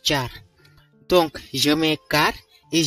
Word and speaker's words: char: Bien évidemment, ça ne se prononce pas char. Je francise, je ne sais pas si ce mot existe. Il se prononce char.